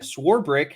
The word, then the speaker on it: Swarbrick: front end yes swore brick there's no there's no eight or there's no CH in swarbrick schwarber sworebrick there you